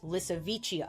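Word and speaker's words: Lisowicia: the plant called Lissichia, which I kept pronouncing as Lisa in my head when I was researching, but it's Lissichia. I like my pronunciation better, but whatever. It's pronounced that way because the first fossil specimen found of it was in a village called Lissa Vich in Poland in 2005.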